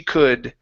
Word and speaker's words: could: Sarah screamed as loud as she could. Sarah screamed as loud as she could. Okay, now in the word could, yes, that L is silent.